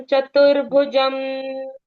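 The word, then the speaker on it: चतुर्भुजम्: चतुर्भुजम चतुर के बाद भू के ऊपर वो रेफ की मात्रा है वो बोल ले रहे हैं हम चतुरम चश वर्णम चतुर्भुजम आप बोलो कुछ नहीं मैं मैं उसका वो देख रही हूं कि कैसे पढ़ा आपने चतुर का आपने भले नहीं पढ़ा आपने र की मात्रा पहले ऊपर पढ़ी इस that how इट इज रेड है ना यस वो रेफ की मात्रा पहले पढ़नी होती है शश वर्णम देखो ण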